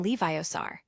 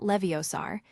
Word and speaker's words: Leviosa: "It's Leviosa, not Leviosaar. Make the gar nice and long."